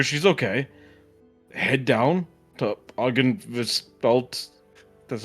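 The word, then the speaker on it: Argynvostholt: Head down to Aren Velt. That's how it's pronounced.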